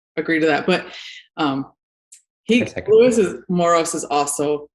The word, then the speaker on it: Moros: It's Moros.